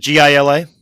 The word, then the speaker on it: Gila: I think that's correct, but Is it GILA? it's GILA. Yes, then the it's Gila correct. monster. Yeah. Okay. I always pronounce it Gila, and I just found out